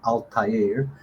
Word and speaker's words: Altair: and then okay uh altair we can put pronounce as altair because there's a arabic origin to the name okay uh vega is